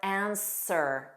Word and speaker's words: answer: Other random words are answer, sir, sir, answer, sword, sore, sword, and to, which you know is pronounced as the same as the preposition to.